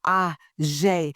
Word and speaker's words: AuJ'ye: And don't forget, if it doesn't feel sexy saying it, AuJ'ye, then you're saying it wrong. Until next time. Talking with AuJ'ye.